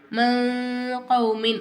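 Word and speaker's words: مِنْ قَوْمٍ: மின் கௌமின் அப்படித்தானே இருக்கு நம்ம இந்த இடத்தை எப்படி உச்சரிக்கணும்னா மங் கௌமின் அப்படின்னு மங் அப்படிங்கும் போது அந்த இங் இருக்கு பார்த்தீங்களா இங்கு இங்குன்னா இந்த லெட்டர் ஓகேங்களா இங்குக்கும் ன்னுக்கும் நடுவுல இருக்குறதுதான் நடுவுல ஓகேங்களா இங்கும் சொல்லக்கூடாது அது மாதிரி ன்னு சொல்லக்கூடாது இந்த இடத்தை நம்ம என்ன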